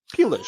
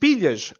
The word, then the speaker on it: pilhas: So he goes, pilas, because he can't pronounce the l properly. Now, for context, pilhas, like you're supposed to, like he meant to say, means batteries.